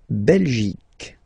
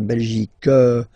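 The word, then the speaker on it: Belgique: in French okay okay La belic okay remember here you will get only the sound C okay belic belic so it's not belg not at all okay because it's only the belic okay Denmark so same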